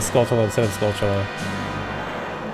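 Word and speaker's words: Skulltula: in the video for saying skull instead of scultula.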